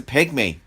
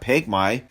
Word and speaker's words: pygmy: know it's the mispronunciation it's called pygmy dammit it's a pygmy not pig my god was I terrible